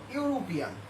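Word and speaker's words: European: তারপরে আমি আরেকটা ওয়ার্ড দেখতেছি, ইউরোপিয়ান। এখানেও ভাওয়েলের উচ্চারণ ইউর মতো হয়েছে। এক্ষেত্রে আমি ঠিক এন না বসিয়ে কি বসাবো?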